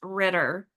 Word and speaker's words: Rueter: It's Ritter. You said it the first time. Yes. Spelled R U T E R pronounced Ritter. Ritter.